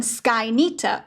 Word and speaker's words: Skynyter: So you'll notice that the names Midnighter and Skyknighter both end with Nighter. And sometimes, depending on the region that hedgehogs are from in Chutaland, this is sometimes pronounced as Neater. So that would become Skykneiter or Midneater.